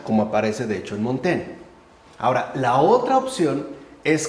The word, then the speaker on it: Montaigne: Muchos se han basado en el libro, por ejemplo, de Eclesiastés, Montaigne, creo que se pronuncia, ¿no? Montaigne, por ejemplo, sería uno, Lord Byron sería otro,